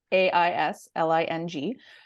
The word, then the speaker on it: Aisling: So my Instagram is just at Aisling, and nobody ever knows how to spell it or pronounce it. So it's Aisling.